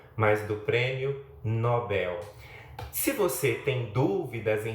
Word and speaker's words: Nobel: A mesma coisa acontece com aquele conhecido prêmio que é dado para algumas pessoas que se destacam em algumas áreas. Não se trata do prêmio Nobel, mas do prêmio Nobel.